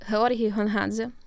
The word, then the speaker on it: Georgiy Gongadze: I don't want to mispronounce his name. His name is Georgiy Gongadze.